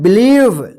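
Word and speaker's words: believe: मत पढ़िए बी ई एल आई ई वी ई इसको क्या पढ़ेंगे बिलीव ठीक है ध्यान रखिएगा ई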